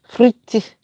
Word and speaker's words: frites: No, Frits. We eat that. Jamaicans eat fritters, but that's steak fritters. Frites.